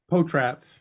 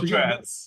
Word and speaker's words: Potratz: Potratz. You're close. Potratz.